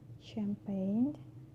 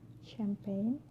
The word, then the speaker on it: champagne: So letter G can be also silent too. For example, sign, champagne, design, foreign. Sign, champagne, design, foreign. All these examples have a silent G, and the combination of